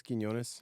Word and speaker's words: Quiñones: um so yeah so my name is kones I go by that's a military thing it's just nobody could pronounce pronounce my last name um I grew